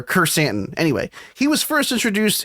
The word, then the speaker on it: Krrsantan: Chrysanthemum is Krrsantan, sort of like Kerstanton or Kersantan.